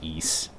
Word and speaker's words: Ys: But I think most people know now that it's pronounced East.